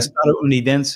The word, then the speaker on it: estadounidense: Estadounidense is how you say it in Spanish.